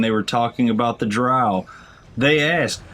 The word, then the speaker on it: Drow: were talking about the Drow. They asked, is it Drow or Dro? And they're like, oh, it's pronounced the same way you pronounce B-O-W. Oh, you mean bow or bow?